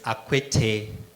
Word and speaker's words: Akwetey: there you go Shalom everybody my name is acquittee the name of quickly tells you that I'm